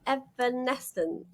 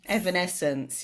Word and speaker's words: Evanescence: is it is it I'm going say the name wrong is it evanesence Evanescence yeah yeah you were very in that era